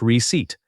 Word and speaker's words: receipt: The pit is silent. It sounds like receipt.